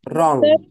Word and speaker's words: wrong: عكسها ال W silent، ال W ما word بتتنطقش. wrong أو wrong and untrue.